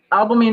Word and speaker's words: albumin: If you are using how do you pronounce it? I don't know, albumin.